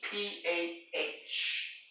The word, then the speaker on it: Creepah: CREEPAH. The H is silent.